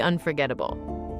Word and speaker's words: unforgettable: this book is truly unforgettable. Excellent, Emma. When you say journey, make sure that j sound is clear. Journey. And unforgettable has that stress on the third syllable. Un-for-get-ta-ble.